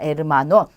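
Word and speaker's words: hermano: 당연히 얘가 없다고 생각을 하고 그 다음부터 읽으시면 돼요. 우에보, 달걀입니다. 달걀. 자, 이 단어도 마찬가지입니다. 아체가 없다고 생각을 하고 읽으시면 돼요. 에르마노입니다. 에르마노. 남자 형제를 뜻해요. 에르마노. 자, 그래서 아체는 묵음이고 절대 발음하지 않습니다.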